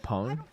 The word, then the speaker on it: Pang: So, so what I what I say is my name is Pang, but like in Chinese it's actually pone.